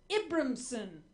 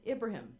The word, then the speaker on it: Ibrahim: It's Abraham, but spelled with eyes.